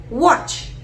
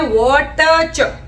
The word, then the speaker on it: watch: नहीं, वो होती है वॉच। WATCH। इसमें ट जो है वो साइलेंट है, वो चोर है। बोलते हैं वॉच और लिखते हैं वॉटच।